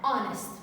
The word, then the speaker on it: honest: I have an hour pay attention that the word starts with E silent H and it starts in the sounds it starts with what a sound of a vowel which is the up so I say an honest man and I hope that